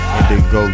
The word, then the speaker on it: Gndigo: Gndigo. Yeah, the G is silent.